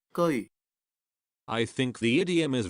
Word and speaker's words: 車: You may learn the character 車 from the previous video, but be noted that it does not pronounce ce1 in this idiom, but have to pronounce geoi1.